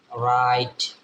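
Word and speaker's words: write: এর সাথে যদি আর থাকে তাইলে ডব্লিউ এর উচ্চারণ হবে না যেমন আমাদের লিখি না রাইট ডব্লিউ আর আই টি দেখেন ডব্লিউ এর সাথে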